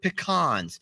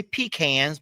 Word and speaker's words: pecans: these are chocolate covered pecans now you guys may say peans but you're saying it wrong pecans they're not peans that makes no sense they're PE wait I